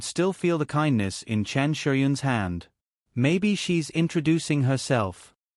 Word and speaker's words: Chen Shiyun: "Chong Yueshi?" Lu Weisha repeated, but her pronunciation was completely wrong. "It's Chen Shiyun, not the one you're talking about."